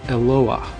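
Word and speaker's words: אלוה: of the Bible Elohim in the singular it's pronounced eloa but here in the Aramaic we can see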